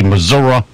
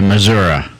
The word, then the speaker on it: Missouri: Missouri what was free are you saying Yankee say missoura there's no a attend no Missourians say Missouri Steve you ignorant of all